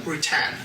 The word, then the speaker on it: Rutan: hel's positionality so her name is halai kareim routen how am I pronouncing that correct and it's halai kareim routen okay gender female pronouns she her hers race